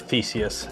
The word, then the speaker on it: Theseus: So, printer of Theseus. Exactly. Oh my God, I actually pronounced it right.